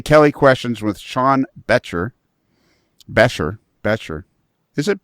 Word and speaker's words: Becher: Becher. Is it Becher? Does it sound like a T? Yes.